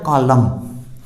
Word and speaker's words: column: इसी तरह second example है COLUMN, यानी एम के बाद एन है तो यहाँ अपना एन साइलेंट हो जाएगा, कॉलम।